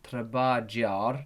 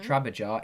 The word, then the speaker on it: trabajar: He says the J in trabajar, trabajar is pronounced like a ha.